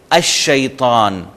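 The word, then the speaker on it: الشيطان: پہلے الف لام آئے تو لام سائلنٹ ہوگا، جیسے الشیطان۔ الشیطان، آپ کو لام لکھا ہوا ضرور ہے لیکن ہم اس کا تلفظ ہی نہیں کر رہے۔ الرجیم، الرجیم، اب رے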